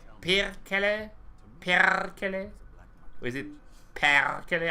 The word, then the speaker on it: perkele: Discord DM coming and rolling the R is the pronunciation is pretty close, but the emphasis must be on the first syllable. And rolling the R is a must. Perkele.